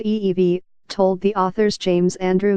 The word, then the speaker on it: Evey: he had in mind Mr FV pronounced ee-vie told the author's James